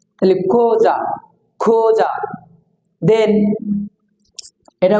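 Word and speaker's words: Xhosa: দিয়ে for example x এই ও এস এই কোজা এক্স এই কিছু কিছু জায়গায় কো উচ্চারণ ভাই ক তাইলে খোজা খোজা দেন এটা উচ্চারণ হবে খোজা ওকে এই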